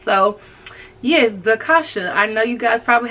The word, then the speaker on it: D'Khosha: pronounce her name Quick people try to call her the kosha and stuff like that oh no baby she gonna check you she gonna tell you exactly what her name is and how it's pronounced so yes zakasha I